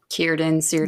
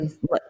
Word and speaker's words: Círdan: So you know how like we were saying that Círdan, word, Círdan. yeah, yeah. So it says the consonant C is always has the value of a K Oh, good to So know.